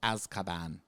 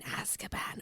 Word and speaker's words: Azkaban: Is a little movie called Harry Potter and the Prisoner of Azkaban. It has to be pronounced that way.